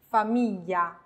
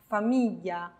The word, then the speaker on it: famiglia: 下一行，famiglia famiglia， figlio figlio， foglie foglie， meglio meglio， voglia voglia。